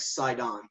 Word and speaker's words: Sidon: Yeah, the Hebrew version of it is Tsidon, and it's pronounced without the T. It's like Sidon.